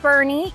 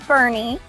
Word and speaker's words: Boerne: his stomping ground now we call it Bernie even though it's spelled like born it is Bernie it's very similar in